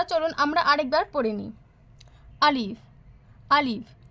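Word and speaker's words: ا: আলিফ, আলিফ। শুধুমাত্র একটি লম্বা টান দিলে হয়ে যায় আলিফ। দ্রুত উচ্চারণ করবেন আলিফ।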